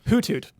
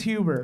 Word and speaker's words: Hoothoot: Hoothoot. Really? Yeah. Wow. It's almost always Huber. That is not how you pronounce it.